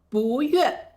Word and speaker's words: 不说: 不悦就是不开心的意思。